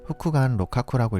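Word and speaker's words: 複眼六角: 일본어로는 세이레이노마이, 후쿠간 로카쿠라고 읽습니다.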